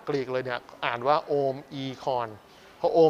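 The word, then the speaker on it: Omicron: ถูก ต้อง จาก กรีก เลย เนี่ย อ่าน ว่า โอม e-con พระ โอ มี การ อ่าน โดย เร็ว จะ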